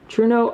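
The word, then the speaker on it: Trueno: say i can't remember people corrected me it was like true no truno i don't know you'll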